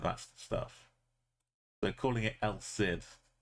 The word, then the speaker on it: El Cid: El Cid. El Cid. There was a British TV show called El Cid. From pronouncing it El Cid because Cid is like the name Sydney.